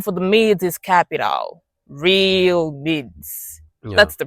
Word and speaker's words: Realmids: Real mids and it's one word, no space, you know. The mids the m for the mids is capital. Real mids. That's the pronunciation. Not real mind, real mids.